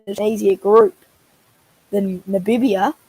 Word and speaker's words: Namibia: But surely the winner is an easier group than Namibia, as I learnt. That's how you pronounce it. Not what did Namibia? It's Namibia.